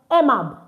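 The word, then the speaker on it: aimable: So, ai is e. So, that's why emab. Why? Because I told you n earlier that a i is pronounced as what? E.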